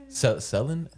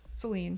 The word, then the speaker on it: Selin: Selen. Selene. Selene. It's like Selen Dion. It's not phonetically sound.